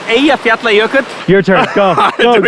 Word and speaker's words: Eyjafjallajökull: It has a name that's really easy to pronounce for Icelanders, nobody else. So it's called Eyjafjallajökull.